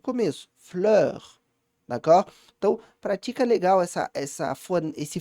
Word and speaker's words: fleur: Aqui, uma das palavras que às vezes dá alguma complicação para pronunciar é a palavra fleur, com esse som de né? Percebe a minha boca como é que ela faz?